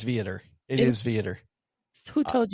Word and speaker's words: Viator: I do the same thing on Viator. Uh-oh, I knew you were going to say it wrong. It is Viator.